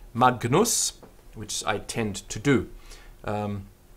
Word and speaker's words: Magnus: Now we have an argument a little bit about how to pronounce this G. Alan says that the G sound is a sound like in hangrail. So it's a hung sound. But it's perfectly okay just to do a sort of a hard G.